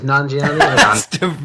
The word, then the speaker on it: Nanjiani: It is Nanjiani.